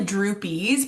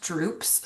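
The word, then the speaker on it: drupes: Um, and they it looks like droopies, but they're pronounced droops. So, the fruit of the dogwood tree are droops.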